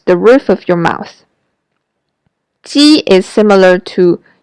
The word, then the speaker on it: ji: When you pronounce ji in Chinese, your lips are spread wide, like when you are smiling.